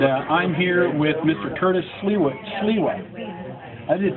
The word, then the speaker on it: Sliwa: Curtis Sliwa. I did pronounce it correctly.